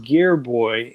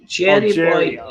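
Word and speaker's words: Gerry Boy: Jerry, like Tom and Jerry. Jerry Boy, except with a G.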